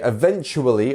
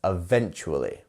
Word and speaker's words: eventually: stress syllable which syllable it's the V bit right eventually eventually so here